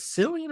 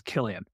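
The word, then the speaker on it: Cillian: And actually, real quick, is it Sillian or Killian? I think it's Killian.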